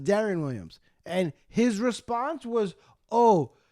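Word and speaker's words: Deron Williams: accolades he'd be like oh yeah I love derone Williams and I'd be like whoa his name is Darren Williams and do you want to know do you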